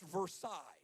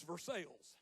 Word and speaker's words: Versailles: in rural Missouri that if we were cultured at all would be pronounced Versailles. But because we live in Missouri, it's Versailles. Can't explain that, it's just real.